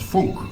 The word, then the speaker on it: Funk: happens dr frank was german and it's actually pronounced funk and he you know he uh he was